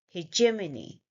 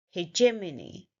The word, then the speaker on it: hegemony: Hejema, hejema, and the last one is ni, hegemony, hegemony. So I'm just exaggerating the sound a little so you understand that where we are stressing on the second syllable when we say j, hegemony, hegemony.